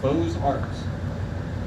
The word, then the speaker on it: Beaux-Arts: That's spelled B-E-A-U-X, Beaux-Arts.